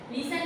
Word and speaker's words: listen: और लिसन, LISTEN, लिसन में फिर से T जो है वो हो जाएगा साइलेंट।